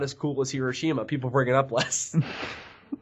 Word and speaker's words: Hiroshima: I wonder what the actual way you're supposed to pronounce it is. We should ask on. It's Hiroshima. Hiroshima is the correct way.